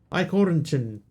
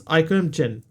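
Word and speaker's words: Eichhörnchen: Eichhornchen.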